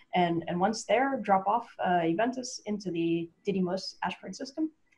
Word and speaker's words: Juventas: Well, I'm glad to get the correct pronunciation for Juventas, so I appreciate that.